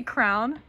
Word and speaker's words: crayon: Crayon. Crayon. How else do you say it? Some people say crown.